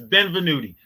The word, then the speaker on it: Benvenuti: Nino Benevuti. That's right. Well, there you go. He defeated Nino Benvenuti. Let me make sure I say it right. It's Benvenuti.